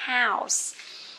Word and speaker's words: house: Một số bạn còn đọc là hole. Không phải là hole nhá. Nó sẽ là house.